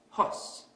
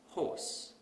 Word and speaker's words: horse: So we might pronounce this word as hos instead of horse.